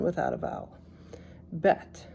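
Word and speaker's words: בֵּית: silent without a vowel bet sounds like B like a b vet v gimmel g like a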